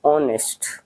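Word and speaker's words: honest: ऑनेस्ट नहीं पढ़ते इसे, ऑनेस्ट। एच साइलेंट होता है।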